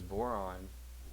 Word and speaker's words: boron: So here's boron. You know, of course, rhymes with moron.